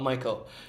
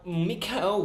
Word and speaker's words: Michael: Mikhail is spelled like Michael, except you're saying Mikhail, not Michael. Tell me Yes. about that. Because he's German, and in Germany, in German language, Michael is pronounced as Mikhail.